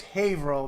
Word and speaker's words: Haverhill: uh you you said it right before it's Haverhill but you know what I'll cut you Slack